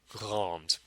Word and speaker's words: grande: The feminine form is going to be grande. You just pronounce the D because of the E at the end.